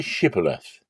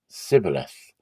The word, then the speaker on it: Shibboleth: If he said, "No," then they said to him, "Now say Shibboleth." And he said Sibboleth, for he couldn't manage to pronounce it right.